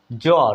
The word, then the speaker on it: জ্বর: করে খেয়াল করুন বন্ধুরা জ্বর দেখুন বর্গীয় জ এর সাথে ব ফলা হয়েছে জ্বর জ্বর এখানে কিন্তু বচ্চারিত হলো না স্পষ্টভাবে মিস হয়ে গেল উচ্চারণে ঠিক কিনা বন্ধু